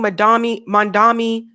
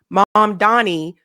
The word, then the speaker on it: Mamdani: It includes the DSA group's list of demands for the incoming Mandami, I always say his name wrong, I'm sorry, Mamdani administration.